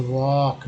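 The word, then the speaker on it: walk: Next है एल के में एल साइलेंट है, तो वॉक।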